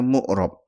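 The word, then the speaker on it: معرب: Jadi ada mabni, ini bacanya mabni, dan ini bacanya mu'rab, ya.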